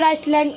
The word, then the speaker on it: island: Wheeler Island, Odisha. Wheeler Island, Odisha. No, don't read it. Iceland. That Island. is island. S is silent there.